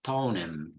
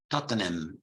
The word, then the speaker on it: Tottenham: we mentioned Tottenham and in London they also said tonim tonim who's playing tonight Tony and Leeds okay Tottenham however the appropriate pronunciation should be Tottenham Tottenham Tottenham not DOT then ham okay we spoke about